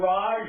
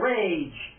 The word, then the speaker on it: Rhaj: that pronounced Raj or rage I used to pronounce it Raj but you can pronounce it rage if you want to actually Raj was just the pronunciation in my original native language in America is more